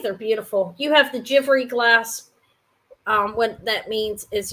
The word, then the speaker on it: Givry: Givry, I call it, but I believe it's pronounced Givry. I Googled it for the pronunciation.